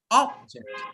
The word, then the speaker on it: object: any word which is a noun or adjective, and 2 syllables, put pressure on the first one.